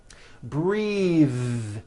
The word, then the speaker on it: breathe: Breath is a noun. Take a breath, unvoiced. But when you change it into a verb, the vowel changes and it becomes breathe. I am breathing with a voiced TH.